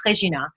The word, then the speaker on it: Rhegina: to me when i look at that it's regina and it kind of takes me back to